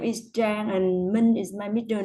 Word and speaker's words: Trang: Okay, so, and it's pronounced Trang, like that, Trang. Mm. So, Trang, what do you do?